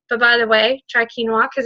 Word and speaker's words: quinoa: know what quinoa and I was pronouncing it like klonoa because I didn't know what it was um but by the way try quinoa cuz it's really good